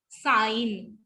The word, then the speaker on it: sign: ठीक है, नाश, नाट, नौ, champagne, poignant, physiognomy, sign, resign, and assign. So these were G will be silent when G and N comes together.